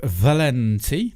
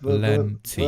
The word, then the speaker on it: Valenti: Mr. Albert Valenti. That's how you pronounce it, Simon. Albert Valenti. Valenti. It says it right on the screen. It's easy. Valenti.